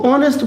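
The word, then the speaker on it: honest: अब पढ़ते हैं इसको आना पढ़ते हैं इसको ऑनेस्ट पढ़ते हैं इसलिए सब में क्या आएगा एन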